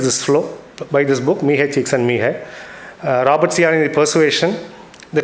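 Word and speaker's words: Mihaly Csikszentmihalyi: It's a very weird pronunciation, but this is how you have to say, Mihai Csikszentmihalyi.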